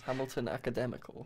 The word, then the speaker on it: Hamilton Academical: Academical that is how to say it is Hamilton Academical yes yes oh gosh oh could be Scottish